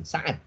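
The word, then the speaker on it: سعد: Kalau tidak ada alifnya baru Sa'dun, Sa'ad. Nama laki-laki ya. Jadi kalau tidak ada alifnya kita bacanya Sa'dun ya, atau Sa'ad ya. Nama sahabat Nabi Sa'ad bin Abi Waqqas ya, Ibnu Abil Waqqas itu tidak pakai alif ya, Sa'ad.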